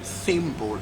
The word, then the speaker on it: thimble: the be in plumber is silent so the worse bonus plumber and not plunder but it'd be in thimble is not silent like I told you English us a number of rules and English also has a number of exceptions to it number of rules so why the big thimble is pronounced and why to be in plumber is silence there is no necessary